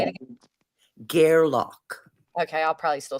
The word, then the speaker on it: Gairloch: Gairloch. I'm sorry, say it again. Gairloch.